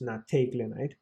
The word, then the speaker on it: nateglinide: I know it says NEET, but it's actually pronounced nateglinide.